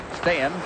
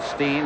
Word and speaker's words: Steen: Since it is Team Sweden, we thought we'd go down and make sure about pronunciations and how they would prefer to have their names said. And Thomas Steen is the correct way in Sweden. I think he's called Steen in Winnipeg.